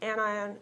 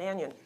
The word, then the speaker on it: anion: Those are pronounced cation and anion. It isn't a cation and an anion.